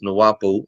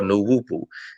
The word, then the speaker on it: Nuapu: will speak on it it's pronounced as nawapu or nu wupu it stands for right